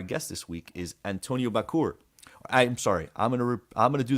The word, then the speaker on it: Bachour: And that's perfect because our guest this week is Antonio Bachour. I'm sorry. I'm gonna do that again. Our guest this week is Antonio Bachour because his name is pronounced like a sneeze.